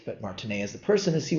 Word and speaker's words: martinet: And the reason I'm pronouncing it not Martineette, but Martinea is the person is he was a French general in the 19th century.